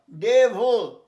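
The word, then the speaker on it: devil: Will যেন ইচ্ছে, এবং ডেভল উচ্চারণ ডেভ, ভিআইএল, ভিল নয়, ডেভল। ভয় লয় হসন্ত, দেখো লিখেছি, ভয় লয় হসন্ত, ডেভল, যেমন বলতে ইভল।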